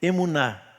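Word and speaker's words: אמונה: hebraico que foi traduzida aqui como fé é emuná eu não sei se a pronúncia tá correta né É isso mesmo ozf que bom que hoje tá zf tá aí emuná é fé só que ela aparece muito antes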